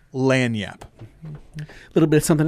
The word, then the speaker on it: lagniappe: exactly well it's the lan yap section all right then good luck google it there's a silent g in there somewhere there might be at